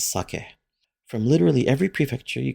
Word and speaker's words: sake: And please note how it's pronounced. It isn't saki, it's sake.